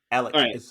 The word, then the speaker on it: Alec: Well, if you're not playing Calvin and you're playing, how do you pronounce his first name? I don't want to butcher it. Alec.